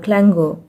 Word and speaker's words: clangour: जैसे यहाँ पे देखिए CLANGOUR, क्लैंगर। ठीक है, गर, तो यहाँ पे ओ यू को हमने अ पढ़ा है, क्लैंगर।